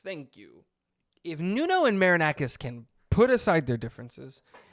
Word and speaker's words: Marinakis: If Nuno can uh Marinacus, thank you. If Nuno and Marinakis can put aside their differences and stop being